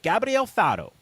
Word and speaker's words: Gabriel Faro: Is it Gabriel Faro?